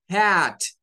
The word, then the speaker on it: hat: Y en esta palabra, si como no está, pues la palabra al no estar se hace un sonido I.